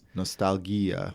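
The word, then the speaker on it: Nostalghia: Nostalgia by kovski I I think that's how you pronounce it Nostalgia cuz it's uh cuz there's H in there Nostalgia that's how that's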